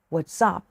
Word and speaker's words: what's up: รุ่น หน่อย นะ คะ What's up what up แนว ถาม ว่า ว่า ไง เป็น ไง มั่ง What's up ที่ มัน อ่าน ว่า sub เพราะ S ไป ควบ กับ You ค่ะ นัก เรียน ก็